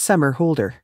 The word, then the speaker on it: Somerhalder: 8th 1978 number two his name is pronounced summer holder number three he started